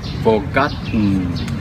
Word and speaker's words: forgotten: Forgotten. Forgotten. Forgotten. This is pronounced forgotten, not gold, but forgotten.